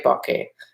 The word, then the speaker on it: bokeh: I say bokeh because a bouquet is a bouquet of flowers.